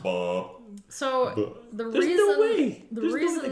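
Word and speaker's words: Baal: horses in his defense it's pronounced ball so the reason the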